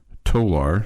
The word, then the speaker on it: Tolar: I've already learned how to pronounce Tolar. It's like polar. Polar. Tolar. Like polar.